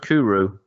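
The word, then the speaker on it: Cwrw: to me like it fits the bill oh pronounced kuru yeah guinea beer and welsh um i think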